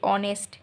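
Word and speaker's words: honest: Same অনেস্ট, অনেস্টে কিন্তু আমরা এইচটাকে silent রাখি, আমরা বলি অনেস্ট।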